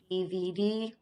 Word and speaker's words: DVD: And make sure that you're pronouncing your DVD with the names of your Spanish letters and not English letters.